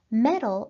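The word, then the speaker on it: meddle: lesson metal and metal metal as a verb means to interfere metal as a noun means the ability to handle difficulties and both of these words sound like metal m t l so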